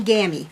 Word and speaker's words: Gammy: Yeah, I'm Gammy because it rhymes with Tammy.